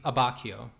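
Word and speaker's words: Abbacchio: quick again nancha buera abbachio CH is a hard C uhhuh two C's is a CH yeah very confusing as a Spanish speaker but here we go yeah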